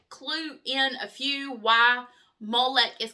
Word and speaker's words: Molech: So, Molo, M O L O CH or Molech, M O I always say Molech, M O L E C, which I know is probably the southern translation, I mean pronunciation, originated with the Phoenicians.